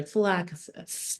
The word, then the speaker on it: Lachesis: Lachesis.